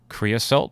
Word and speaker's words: creosote: Let me see if I pronounce it correctly. Creosote. Creosote, yeah.